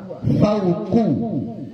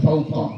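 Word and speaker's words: فوقُ: Fauqu, bukan fauqa, ya.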